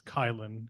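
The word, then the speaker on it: Kilen: It's Kylen, K-I-L-E-N, just like it's spelled, sounds.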